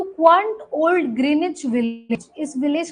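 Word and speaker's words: Greenwich: सो to quant old ग्रीनिच village. इस village का नाम क्या है? ग्रीनच each W is silent ग्रीनिच village.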